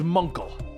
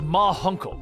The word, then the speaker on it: Ma Hunkle: Guardian told her that it was Munkle. The Guardian suddenly appears, and around the corner, the aging members of the Justice Society of America step into view. It's pronounced Ma Hunkle.